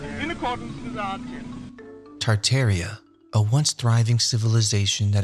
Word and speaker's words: Tartaria: Tartaria, originally pronounced Tartaria without the first R, is the name of the pre-Mongolian empire that originated in northern Asia before spanning the entire northern hemisphere.